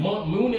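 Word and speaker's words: Muni: Mooney Long, I know her. I just don't know. It's pronounced Money.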